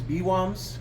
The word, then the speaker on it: BWOMS: El Paso bombs yeah b-w-o-s which I I pronounce as b-woms yeah and I don't know